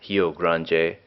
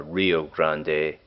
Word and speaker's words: Rio Grande: it's aptly named cherry of the heel Cronje if you were pronouncing it in Portuguese or Rio Grande in Spanish Rio Grande even in